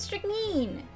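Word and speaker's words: strychnine: of course of course it's pronounced strict mean oh of course i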